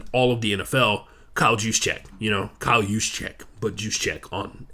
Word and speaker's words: Juszczyk: deadliest weapons in all of the NFL, Kyle Juszczyk. Kyle Juszczyk, but Juszczyk on Instagram. He literally is his name is spelled the phonetic way you're supposed to say his name, Juszczyk.